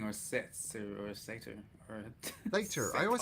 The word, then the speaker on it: satyr: It's Tiefling or a Tiefling or a Satsu or a Satyr or a Satyr. I always get Satire. confused how to say it. I think it's satyr. Satyr. Yeah. Satyrs, It's not satire because that's comedy.